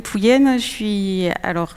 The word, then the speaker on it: Pouyen: alors je ne sais même pas comment on prononce votre nom, Pouyen? À la bretonne. À la bretonne. Oui, donc du coup moi je suis Pouyen, J'aime à m'appeler